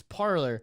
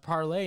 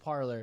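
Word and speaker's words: Parler: the founder the founder of parlor says it's parlor because gavin mckinley was like oh it's well that's supposed to be pronounced parley and he's like actually it's just parlor yeah he's like oh okay well i'll still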